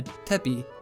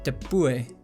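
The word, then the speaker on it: tepui: also be classified as something known as a tepi, or tepue, depending on your pronunciation and what part in the world you're from.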